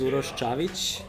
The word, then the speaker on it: Uros Cavic: Yeah, my name is Uros Cavic. That's the proper way to pronounce it.